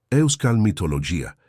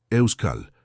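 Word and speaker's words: Euskal: Euscal mitología intentó Ricardo masacrando completamente la pronunciación. Ane se rió y esta vez la risa fue genuina, sin malicia. Euscal, la K es importante.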